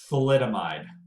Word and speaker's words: thalidomide: of you heard of this thing here it's pronounced thalidomide almost it must a bunch of babies up